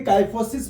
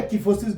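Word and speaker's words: kyphosis: तो flat for काइफोसिस देखिए काइफोसिस बोलिए या किफोसिस बोलिए वहां आपको स्पेलिंग याद रखना है प्रोनंसिएशन वहां कोई नहीं देखेगा काफोसिस [नाक से की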